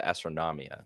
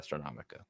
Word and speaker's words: Astronomia: I think it's the Astronomia, not Astronomica.